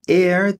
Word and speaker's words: heir: Aqui, heir tem a mesma pronúncia de ar, tá bom? Mesma pronúncia.